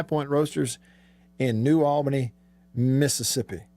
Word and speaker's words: Mississippi: roasters in new albany mississippi notice i pronounced all the yeses in the word mississippi and you should too everybody should don't say mississippi drives me crazy as if